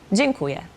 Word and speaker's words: dziękuję: So the pronunciation of that E with the curve underneath is on. Like dziękuję. Wait, hold on. Let me say that one more time. dziękuję means Dzień. So it's like an N sound.